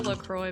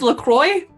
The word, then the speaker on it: LaCroix: great it's like a lacroix but with more flavor sorry i'm still making holy water jokes that's how you say it is lacroix yeah some people say la croix but that's exactly what